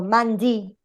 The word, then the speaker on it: Monday: Man has the stress, even though day, or Monday, I can say D, even though D or day can be considered a separate word, inside the word Monday, man is the syllable that is stronger, okay?